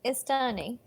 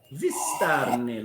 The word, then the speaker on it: Vistani: I was like, well, how do you say greetings in Istani? Vistani, little one.